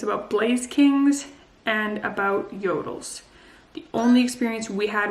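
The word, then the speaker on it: Jøtul: blaze kings and about yodels the only experience we had with a yodel which is spelt j-o-t-u-l it was a really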